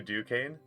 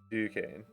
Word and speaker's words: Duquesne: Yours calls you Duquesne. See, I thought it might have been that too. It might have been a like silent S situation. like a bit of a French pronunciation. Duquesne.